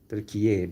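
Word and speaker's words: Türkiye: Is Turkiye, Turkiye. Did I pronounce it correctly? Turkiye. Yep.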